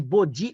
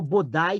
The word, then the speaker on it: Bodhi: E aí ele entra em meditação debaixo de uma árvore que pode ser chamada de Bodhi ou Bodai, também não importa, tem várias pronúncias.